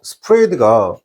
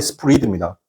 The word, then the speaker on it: spread: 그리고 여러분께서 스프레이드가 선생님 이게 스프레이드가 지금 발음이 스프리드입니다.